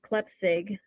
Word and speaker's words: Klepsig: Um, so my last name is Klepsig. Um, just as it's spelled.